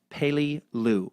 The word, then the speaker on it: Peleliu: like Bello and third Peleliu is pronounced like pay Li Lu pay Li Lu you